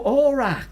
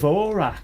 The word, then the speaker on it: Orac: Orac. Ora. Ora. You're thinking of Orac. Yes. I just pronounced it badly.